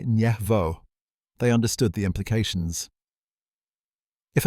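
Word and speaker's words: Yasenevo: They used high-powered microscopes in a laboratory at Yasanevo, pronounced Yasvo.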